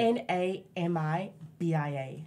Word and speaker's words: Namibia: Namibia. Yeah, because I honestly, when I see it written on paper, I'm like, what is this? How do you pronounce this? It's like N-M, right? Or is it? N-A-M-I-B-I-A.